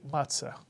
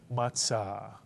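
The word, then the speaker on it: מצה: Two-syllable word, matzah. Many people say matzah. That's okay. But the way to pronounce it in Sephardic Hebrew would be matzah.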